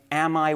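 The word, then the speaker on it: Ammi: the almost unbelievable name, Am I white? Yes, that first name is a biblical name. Um, it's spelled A MMI, but pronounced am I, and his last name is White.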